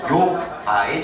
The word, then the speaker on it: 욥바: 잘 발음하셔야 됩니다. 오빠의 축복이 아니라 요바의 축복입니다.